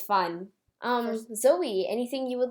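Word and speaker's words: Xoe: and I know what my name is spelled XO e breaking reality it's pronounced Zoe so that's just something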